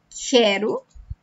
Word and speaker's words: quero: Que eu quero.